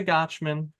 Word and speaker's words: Gochman: did you did it it rhymes with watch and you got it